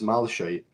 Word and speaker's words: malachite: You know the malachite like the way that we pronounce it in the UK is malachite.